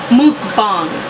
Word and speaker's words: mukbang: I switched it up and it's supposed to be pronounced mukbang, okay?